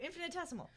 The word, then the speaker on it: infinitesimal: Oh, infinitesimal. There we go. Infinitesimal. Infinitesimal. It's infinite. And then tessimal. Decimal.